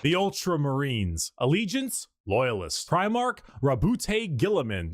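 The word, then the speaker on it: Roboute Guilliman: Primarch Rabute Gilliman, that's how it's said.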